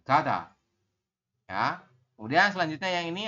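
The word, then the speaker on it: 가다: Ini kan giok ditambah dengan A. Berarti kita bacanya adalah ga ya, Robun. Setelah ga, belakangnya ini dibaca apa? Diget ditambah dengan A. Berarti dibaca da. Seperti ini. Kada.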